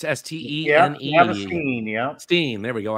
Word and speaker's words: Steen: Travis Stein. Cool, it's S-T-E-N-E. Yep. Travis Steen, yeah.